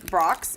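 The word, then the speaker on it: Brach's: friends themes conversation hearts so this is from Brock's is that right is that how you say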